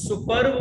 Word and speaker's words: superb: अब याद रखना यहाँ पे जब superb हम बोलते हैं ना, तो ये आर का साउंड जो है साइलेंट हो जाता है, तो superb मत कर देना, इसको हम प्रोनाउंस करते हैं superb, it's superb। इसका मतलब ये लाइफ बढ़िया